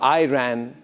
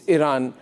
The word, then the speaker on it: Iran: It's not Iran or Uran. It's Iran.